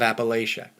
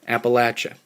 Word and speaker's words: Appalachia: I am from the heart of Appalachia, or Appalachia. I understand the dialect pronunciation articulation concern.